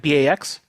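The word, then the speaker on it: Backes: person um backs back b-a-x b-a-c-k-e-s okay this is a weird way to spell it but I I didn't make it up uh and I'll say uh Bax weed we talked very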